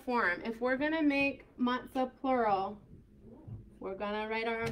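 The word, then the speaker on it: מצה: So mem with patak would make what sound? Ma. Good, ma. And then tsari with kamatz would make what sound? Good, sa. And then we'll go ahead and just add that H. So matzah is our word. You may have as well go over here. Matzah. You could do S or you can do T. I guess S would be a little more accurate pronunciation-wise.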